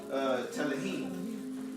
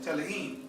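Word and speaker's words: Tehillim: And the name is Telehim. Telehim. That's spelled T-E-H-I-L-I-M.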